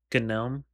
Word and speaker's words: GNOME: desktop environment that comes with it is um Gnome. It's pronounced gnome because it's the plan words for the word uh for the term gnu.